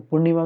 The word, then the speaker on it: पूर्णिमा: तो पूर्णिमा में फिर से जो पौ में ऊ की मात्रा है, बड़े ऊ की मात्रा की, ठीक है, पू होगा फिर नीमा होगा, ठीक है, पूर्णिमा। ठीक है, इस चीज को